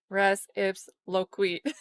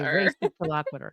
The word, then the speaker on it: res ipsa loquitur: think I say it like real slow, like res ips loquit. Okay, race loquitur.